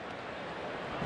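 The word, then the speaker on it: Pie: name is spelled like Pi of course it's pronounced PA we were joking that he should have been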